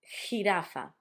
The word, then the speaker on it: jirafa: which is J, but the sound for us is it's almost as if you were gonna try to clear your throat if you got a bit of phlegm, like so jirafa.